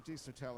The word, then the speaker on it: Desotell: Desotell. Is that how I pronounce your name? That's how you just pronounce it. How do you pronounce it? Desotell. Desotell. Desotell. D-E-S-O-T-E-L-L. Yeah, it's pretty phonetic. It sounds French.